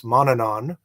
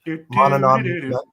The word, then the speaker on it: Manannán: So many people are familiar with a deity whose name gets mispronounced all over the place, Manannán, right? Manannán.